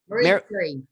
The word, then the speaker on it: Marie Curie: How do I pronounce her name? Marie Curie.